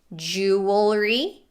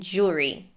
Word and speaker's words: jewelry: both ways are okay now the word jewelry has two acceptable ways of pronouncing it jewelry and jewelry and the word coupon